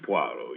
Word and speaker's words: Poirot: My name is Puo.